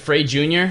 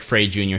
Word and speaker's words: Frey Jr: freddie jr freight jr oh is it free junior yeah yeah free i don't know oh yeah it does look like frey junior sorry yeah if you if you're not gonna pronounce the j it could be free r yeah frey jr let's ignore letters now f r e y j r dot com check out